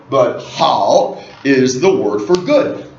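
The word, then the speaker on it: 好: again third tone so H as opposed to how or how right but how is the word for good and the hanza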